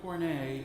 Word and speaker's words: cornet: I talked about and this is called a cornet on the organ of corn a is spelled like cornet see or any teeth